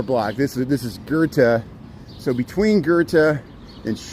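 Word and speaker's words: Goethe: I'm pronouncing it right it's not go it's Gerta it's it's the German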